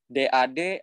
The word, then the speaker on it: dad: Kalau misalkan DAD yang untuk ayah artinya dia A-nya agak naik gitu. Jadi pelafalannya dad seperti itu.